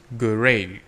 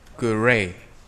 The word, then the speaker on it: great: Harry thinks he's great. Cái chữ này là great. Sau đó lưỡi chạm vào răng trên nó tạo ra âm đờ.